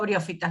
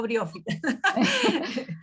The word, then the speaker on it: briófita: de briofitas, yo digo briofitas, no sé por qué, del libro de Ah, Valla me quedó briófita, no, es con el indistinto, acento en sí, la O.